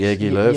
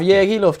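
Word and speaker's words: Jogi Löw: So Martinez, Löw has said he's Yergi Löw. He's not going into club football. I'd have Yergi Love just for the name, because it's definitely not pronounced that.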